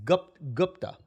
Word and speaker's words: Gupta: How do you pronounce his last name? Gupta. It's Gupta.